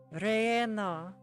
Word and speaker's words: relleno: Relleno. Like hatch chilies. Yo sé cómo pronunciar relleno.